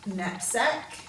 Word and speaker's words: knapsack: So let's read the words knoll, knave, knack, need, knapsack. So quite often we could also use a G for a silent letter before an N.